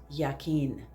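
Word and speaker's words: Jachin: The white pillar is Yakin. It's a J, but it's pronounced Yakin.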